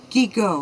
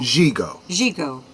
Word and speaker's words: Gigot: So tonight's movie, I've actually been mispronouncing the name and didn't find out until this afternoon. It's actually Gigot. Gigot.